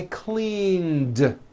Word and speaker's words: cleaned: that here's another example clean ends with a voiced n so today I clean yesterday I cleaned I cleaned the kitchen